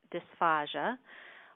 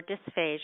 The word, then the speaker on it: dysphagia: of the webinar is dysphagia or dysphagia it's pronounced either way and i wanted to